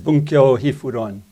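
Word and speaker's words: Bunkyō Hifuron: This was the Wenjing Mifu Lun in Chinese, the title of the same text pronounced in Japanese, which I'll use today mostly, is Bunkyo Hifuron.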